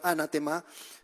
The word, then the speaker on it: anatema: La palabra anatema en griego se pronuncia prácticamente igual, anatema, se escribe con las